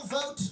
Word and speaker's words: Vought: my name is vote people always uh you know mispronounce it it's spelled v like and Victor o u g HT but it sounds v o t and I can't tell